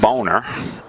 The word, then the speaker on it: Boehner: uh house Speaker John Boehner resigning actually pronounced boner but people they people